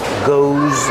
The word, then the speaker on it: goes: In the morning, your alarm clock goes off. Change the verb with the s because alarm clock is singular. Put the s there. Pronounce it like a zz, like zebra.